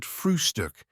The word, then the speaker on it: Frühstück: the word breakfast, but always call it Frühstück, with a special emphasis on the first syllable.